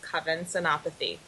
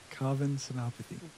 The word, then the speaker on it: Senapathy: My name is Covenathy. Covenopathy. A little softer. My first name um rhymes with oven.